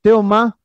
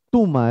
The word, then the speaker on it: Tomás: Entonces, vamos al siguiente, es Tomás, conocido como Teoma o Tuma.